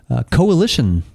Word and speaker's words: Cohhilition: And the beverage that we're about today is the Cohhilition Blend. Am I pronouncing that right?